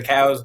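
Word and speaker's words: Coues: The Cow's white-tailed deer, which is how you pronounce it, Cow's white-tailed deer in Mexico and the Southwest, that genetically is different.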